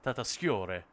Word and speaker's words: Tatasciore: I associate Fred Tatasciore with, and it's in Italy. I think the name would be Tatasciore, I guess. But because it's American, they don't bother with any of that pronunciation malarkey, and they just kind of shove the syllables together and hope it makes sense.